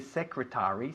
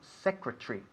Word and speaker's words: secretary: No solemos decir secretary, sino secretary. Tree como árbol al final.